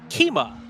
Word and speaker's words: Kima: Kima is how it's pronounced.